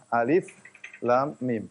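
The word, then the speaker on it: الم: Makanya tidak dibaca alam, tetapi dibaca alif lam mim.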